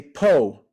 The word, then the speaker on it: Paul: um to this date a lot of people in Brazil they don't say Paul they say Poe so they don't say